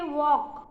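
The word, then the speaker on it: walk: blue ए ल के वॉक वॉक कहते हैं वॉक चलना उसमें ल का हम उच्चारण नहीं करते या उसके बाद एस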